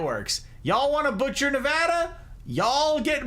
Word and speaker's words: Nevada: that weird yes Cal they butcher it all of the time everywhere it's Nevada not Nevada we have a whole